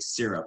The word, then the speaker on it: syrup: syrup too syrup syrup syrup syrup syrup like sear like you're searing a steak syrup syrup yeah caitlyn can